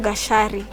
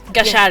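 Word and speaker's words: Gachari: Gashari. Gashari, yes. So yes. the C becomes a sha.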